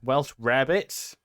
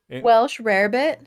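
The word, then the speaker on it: Welsh rarebit: this okay i can't i don't know how to pronounce this welsh rabbits i mean that's how it's how i spelled it welsh rare bit yeah it consists of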